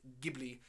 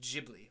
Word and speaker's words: Ghibli: Progresso exactly yes and the plane was apparently pronounced Ghibli and not Ghibli like I have thought all these years so